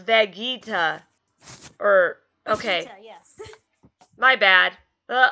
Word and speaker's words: Vegeta: hey I just lost my spot uh-oh it's pronounced Vegeta or okay my bad uh uh-huh taking a